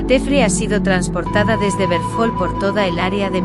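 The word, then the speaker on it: Hverfjall: Bergthol, pronunciación islandesa, también conocido como Berfell,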